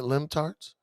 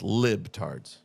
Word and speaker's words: libtards: Is it limptards? I think it's libtards. Libtards. I thought it was limptards. No, it's like liberal and libtards.